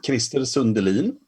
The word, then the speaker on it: Krister Sundelin: how to say it the proper the proper way is crystal sundaland okay I've been I've